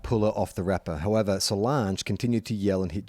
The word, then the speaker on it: Solange: beyonce's sister yeah um rhymes with orange sort of not doesn't saliva mispronounce